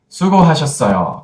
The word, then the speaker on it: 수고하셨어요: 수고하셨어요. 수고하셨어요. Could you pronounce this phrase?